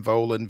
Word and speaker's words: Volin: him on Twitter Ben volan v i n um am I pronouncing that correct it's not ven or anything like that okay great I say it rhymes with stolen so you gotta write